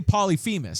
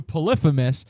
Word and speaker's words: Polyphemus: I'm not sure how to say it, because I used to say Polyphemus, That's what I but say. then I got corrected to Polyphemus, and that's what I've been saying ever since then.